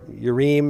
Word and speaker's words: Urim: High priest built into the ephod is the Urim and Thummim, or Urim. And if you see I am in a Hebrew word, it really is im typically. But most people just pronounce Urim and Thummim.